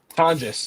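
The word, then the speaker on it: Tonges: Tonis, that's that's how you pronounce it.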